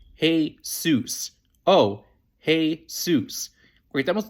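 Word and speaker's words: Jesús: pretty common first name it's pronounced heus oh hey seus great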